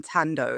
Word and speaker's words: Thando: So my name Thando, it's spelled with an H, which sometimes confuses some people because it's Thando. So sometimes people say Thando, but you don't pronounce the H in Zulu.